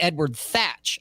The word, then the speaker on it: Edward Thatch: edward tech or teacher whatever yeah it's actually edward thatch i found out is the actual pronunciation it's not teach but where he's going